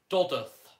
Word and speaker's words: Dodworth: Please note it is pronounced Dodworth.